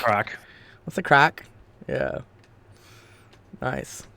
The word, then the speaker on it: craic: But can you spell it? Is it CRAG? What's the crag? No. CRAIC. Oh, crake. Okay. Oh wow, crake. What's the crake? What's the crack?